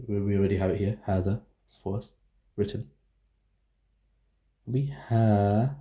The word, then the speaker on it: هذا: So even though it's this, it's not هذا, it's spelled like this. هذا. It's spelled like this, but it's written like this. No, sorry. It's written like this and spelled like this, but it's pronounced like this. هذا. But they remove the alif.